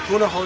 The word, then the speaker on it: Punahou: I graduated from Punahou School, that's spelled P-U-N-A-H-O-U, in Honolulu, Hawaii.